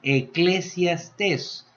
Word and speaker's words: Eclesiastés: Sí, Eclesiastés. En otras palabras diríamos Iglesiastés. ¿Sí? Eclesiastés. Bueno, el libro de Eclesiastés usted está hablando o pronunciando la palabra griega, ¿sí?